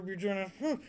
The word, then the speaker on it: Buggin: be in future Buggin. Just saying, even though it's with a hard G and he's known me